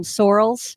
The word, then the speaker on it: Sorel: where we would wear the uh sorels or some people pronounce them sorrels yeah they're a rubbery